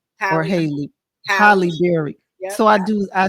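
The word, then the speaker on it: Halle Berry: I do not like butchering this woman named Hollyberry or Haley holberry so I do I said it right Holly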